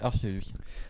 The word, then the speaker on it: Arceus: malheureusement, il faut prononcer Arceus. Ah ouais, c'est pas Arceus, c'est Arceus.